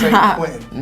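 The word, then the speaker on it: Saint-Quentin: It's Saint Quentin. Nah, Americans are lazy and never try to pronounce shit properly.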